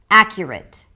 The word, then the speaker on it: accurate: Accurate. Accurate. Let's break it down. 'a' as in "cat", 'a' that's the primary stress. 'a-kyuh', 'kyuh', 'kyuh', it's a K sound, a Y and a schwa.